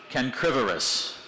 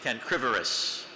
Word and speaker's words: cancrivorous: Cancrivorous. Could we have it in a sentence, please? A starfish is cancrivorous, feeding on the small crustaceans usually found in tidal pools.